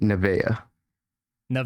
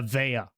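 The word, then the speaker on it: Nevaeh: yeah it's it's heaven spelled backwards and we pronounce it Naa Yeah, Naa.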